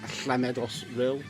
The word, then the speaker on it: Llamedos: There's actually this band as well called, if you were Welsh you would pronounce it as Llamedos Ril, double Lamedos R, two I's and L.